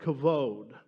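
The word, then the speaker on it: כָּבוֹד: The Hebrew word for glory is, I think you pronounce it, something like kavod.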